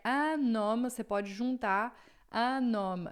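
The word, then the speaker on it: un homme: Anom. Atenção com a pronúncia é anoma. Você pode juntar a noma aqui, ó. Vai juntar o N no O, tá?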